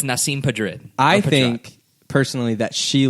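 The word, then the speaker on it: Nasim Pedrad: Also, I feel like I'm going to need help pronouncing her name again. Nasim Padrid. As far as I know, it's Nasim Padrid.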